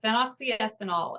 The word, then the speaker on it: phenoxyethanol: And so if anybody wants to look it up, it's spelled PHEN, phen, oxy, OXY, ethanol. So phenoxyethanol.